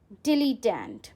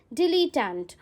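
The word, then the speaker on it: dilettante: Last word इस सेट का है डिलीटेंट. डिलीटेंट अगेन आप प्रोनाउंसिएशन पे ध्यान रखना. इट्स नॉट डिलीटेंटे, many of you pronounce it wrong. It's डिलीटेंट.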